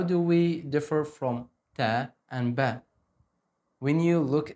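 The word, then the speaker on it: ت: To keep a slight smile when you pronounce like ta, ta.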